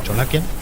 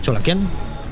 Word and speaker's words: Cholakian: De hecho, creo que todos cometemos el error con Cholakian, pero en realidad es Cholakian.